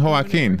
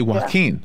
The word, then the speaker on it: Joaquin: Joaquin, the way I learned how to say it, is the way the Spanish-speaking people from Spain would say it.